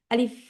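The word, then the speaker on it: ألف: তখন আরেকটা জিনিস আমরা শেষে আমাদের উপরের উপরের ঠোটটা হচ্ছে নিচের দুই দাতের সাথে লাগাব আলিফ আলিফ আলিফ আলিফ বুঝছেন আপু আবার পড়েন আপু আলিফ আলিফ আলিফ উচ্চারণ হবে আমারটা একটু খেয়াল করলে হয়তোবা আপনারা বুঝতে পারবেন যেটা বাতাসও বের হচ্ছে আলিফ আলিফ হ্যা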